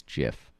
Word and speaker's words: GIF: said i'm pretty sure he said it was jiff he also died yesterday so what that's awesome weird setup that's out to the man who gave us the gift well hopefully we can find out the re